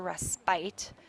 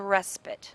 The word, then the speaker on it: respite: And notice, even though there is an E at the end, which generally signals the fact that we have a long vowel before it, and you might want to say this is a respite.